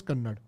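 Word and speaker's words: Kannada: अपुन कन्नड़ बोलेंगे okay so it's like you right कनाडा बट you pronounced us कन्नड़ thank you trouble like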